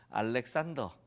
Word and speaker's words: 알렉산더: 알렉산드로스 그쪽 발음이고 알렉산더 우리 발음인데요.